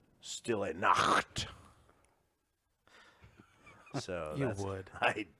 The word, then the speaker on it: Stille Nacht: It's pronounced Stille Nacht.